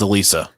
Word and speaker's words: Elisa: We're gonna go with Elisa. Yeah. Elisa Lam's to the classroom. You guys listen to country music? That's Elisa Lies, isn't it? Alyssa Lies. Yeah. Alyssa Lies. Yeah, We're talking about Elisa.